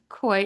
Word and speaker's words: Koi: So it uh it opens with uh Koi. Am I saying the name correctly? Koi.